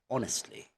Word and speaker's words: honestly: days also you know H for example the word honestly you will never hear the word honest or harnessed okay it's honestly honestly honest okay so instead of